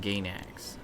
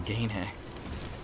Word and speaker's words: Gainax: Oh, Half HP Studios and Gainax.